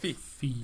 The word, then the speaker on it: Fe: Fee, yeah. Which I thought they said Fear to begin with.